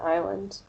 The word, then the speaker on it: island: So the silent letters, like the words no and island, The K is not pronounced in no, and the S is not pronounced in island.